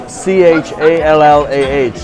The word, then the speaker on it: challah: It's spelled Challah, and it's pronounced challah. It's egg loaf bread.